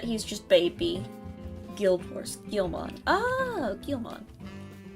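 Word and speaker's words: Guilmon: pronounce it anyway Gilman the U is silent I see there's a silent u in there I like I like him I've heard that he's just baby Guild horse Gilman oh Gilman I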